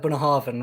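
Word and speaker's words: Bunnahabhain: so it's Torah vague with the BH being a v a bit like Bona Harvin right yes maybe we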